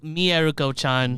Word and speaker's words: Mieruko-chan: It's actually pronounced Mieruko-chan.